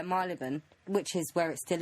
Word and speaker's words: Marylebone: open up in men I merely but not my leben I've said it right I don't know I can never say that word right neither then road yeah marylebone which is where it